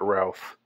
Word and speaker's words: Routh: And I'm pronouncing it Routh, although I've heard some people pronounce it Ruth just because it's spelled R-O-U-T-H. And Routh seems like the most likely pronunciation. But I will correct myself if it comes out that it's pronounced Ruth.